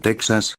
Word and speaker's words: Texas: a j sino que siguieron escribiendo second x de ahí la actual pronunciación de topónimos como texas y méxico así como de nombres